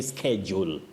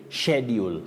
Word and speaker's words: schedule: So S, C, and H takes the sounding sh. So you say schedule. Schedule of classes. That is now the British pronunciation, yes. Schedule, not schedule.